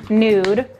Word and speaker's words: Nud: It's N-U-D, it's pronounced Nude.